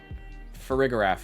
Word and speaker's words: Farigiraf: I'm not mispronouncing that. Wait. Farigiraf, yep.